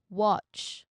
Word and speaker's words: watch: You hear it in words like hot, dog, watch. Okay, notice the spelling of the watch is letter A, right? But it's pronounced as O.